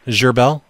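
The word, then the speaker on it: Gherbil: name is what's your last name zerbel can you spell that for me g h e r b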